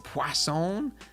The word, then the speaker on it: Poisson: Poisson? There's no W in it, but I was told that that's how you say it. I guess it's French.